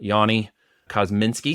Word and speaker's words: Yoni Kozminski: good friend and brother from an Israeli mother Yani cosminski am I saying that correctly you're nailing it